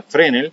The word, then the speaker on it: Fresnel: phr en el si se escribe fresnel pero se pronuncia frene o de campo cercano